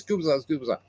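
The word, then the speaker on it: Gubicza: It's gooa.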